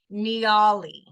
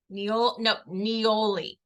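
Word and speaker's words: Niaouli: So I'm gonna go with Nioli. Nioli. Nioli. It's N-I-A, Nia, but it doesn't sound like Nia. O-U-L-I, which sounds like owly.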